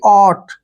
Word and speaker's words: ought: अब next word देखिए OUGHT। यहाँ भी आपने ध्यान से देखिए कि टी से पहले UGH आया है। हम इन तीनों को ही साइलेंट रखने वाले हैं। टी से पहले जब भी UGH आता है उसको साइलेंट रखते हैं। ओ का उच्चारण क्या करेंगे, यहाँ पर ओ ही करेंगे, ऐसे ओ, और टी को टे पढ़ेंगे, यानी कि ऑट। क्या पढ़ना है इसको, ऑट।